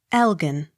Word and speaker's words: Elgin: Elgin. The G hard, as in give.